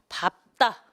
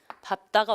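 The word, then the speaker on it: 밟다: 밥다. 밥다가 언제? 자음 앞에서. 밥다가 언제? 자음 앞에서는 비읍으로 발음 난다. 요 4개만 외우시면 돼요. 밥다는 자음 앞에서. 그리고 밥다, 밥고인데 장음이라는 사실 오래 밟아줘야 돼요. 장음입니다. 이렇게 구별을 하시면 되겠습니다.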